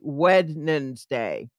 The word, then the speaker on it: Wednesday: don't say the D you don't say that first D when 's day right yeah